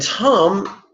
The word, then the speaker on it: tam: And tam sounds a bit like senior prom. That's the vowel sound, long A. Tam.